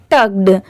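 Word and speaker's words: tugged: इसीलिए यहां पर इसे क्या प्रोनाउंस करेंगे? टग्ड। ठीक है? जैसे मैं आपको हर वीडियो में बताती हूं कि कोई भी वर्ड के लास्ट में अगर डी हो तो वहां पर लास्ट में ड की साउंड जरूर आएगी।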